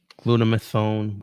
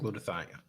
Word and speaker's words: glutathione: Someone told me yesterday about, I forgot how to pronounce it, glutamethone. I don't know. I don't remember how to spell it. Hang on. I'll spell it for you right now. G-U-T-H. Like glutathione. Right, glutathione.